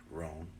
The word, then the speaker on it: Rhone: I mean, first of all, how do you pronunciate your last name? Rhone. Rhone. Like phone.